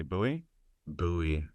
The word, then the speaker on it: Bowie: Doc Holiday Bowie uh it's Bowie what did I say Bo buoy it's not Sam buoy that's what I Tim guy that makes the buoy knife so that's why it's spelled the same way but yeah anyways to